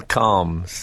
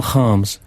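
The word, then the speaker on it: Kharms: Now, how's this for pronunciation? Daniel Calms. Not very good. Oh. It's Daniel Harms. Harms.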